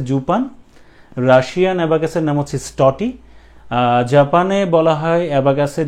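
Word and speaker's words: счёты: এবাকাসের ধরণ এটাকে আসলে রাশিয়ান ভাষায় উচ্চারণ হচ্ছে স্টটি স্ট টি স্টটি স্টটি কিছু জায়গায় এটার উচ্চারণ লেখা আছে স্কশিয়া স্কশিয়া বাট আমি যেটা পেয়েছি আসলে উচ্চারণটা সেটা হচ্ছে স্টটি ঠিক আছে স্টটি বানানটা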